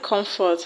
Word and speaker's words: comfort: The word comfort has its stress on com, com.